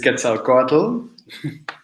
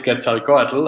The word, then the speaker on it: Quetzalcoatl: This is Quetzalcoatl.